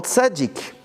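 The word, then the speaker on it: צדי: Demandez à un Israélien, ils ne disent pas Tzadik, ils disent Tzadi.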